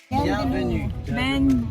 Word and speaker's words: bienvenue: Bienvenue. They don't pronounce the Repeat N.